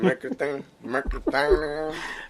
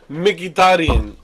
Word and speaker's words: Mkhitaryan: Mercatinian. Who? Henrique Mercatinian. Henrik Mkhitaryan.